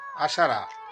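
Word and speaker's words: عشرة: 10, আরবিতে উচ্চারণ হবে আশারা।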